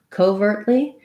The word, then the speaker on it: covertly: o too long and then when you have covertly then you have a little more length for your o probably covertly but still stress on the vert syllable overtly covertly um yeah